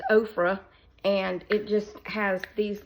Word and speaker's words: Ofra: Ipsy bag it's by ofra which is like Oprah and okra but it's ofra and it just has